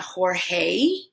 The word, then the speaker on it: Jorge: This name is not Jorge, it's Jorge. Jorge, because the E is just E.